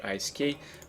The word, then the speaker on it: ISK: like the 11.2 um isk or ik however you prefer to pronounce that um let's have